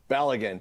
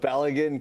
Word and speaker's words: Balogun: To me, Belgium protesting the allowance of, how do you pronounce his name? Balogun. Yeah. Of Balogun coming back in.